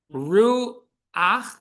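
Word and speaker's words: רוח: If it's a patachet at the end of a word, we say ach. Ru ach, shlo ach, right? So at the end of the word, the vowel is pronounced before the letter.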